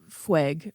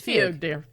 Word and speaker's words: fugue: me started on the the fueg or is it not fueg Fugue Fugue it's Fugue yeah so I apologize to